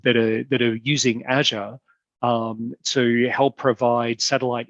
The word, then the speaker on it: Azure: bit more detail and you might call it azure or um i tend to to use the the american pronunciation because i hear it so many times every day of of azure well that's probably not even the american pronunciation it's my own weird version of it but let's have a